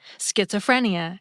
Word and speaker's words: schizophrenia: A few added an H after the SC and made it just sound like SK, schizophrenia and schism.